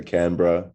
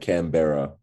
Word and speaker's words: Canberra: and the the bigger cities in australia so canberra c-a-n-b-e-double-a-r it's like canberra says um it's a three-hour drive from sydney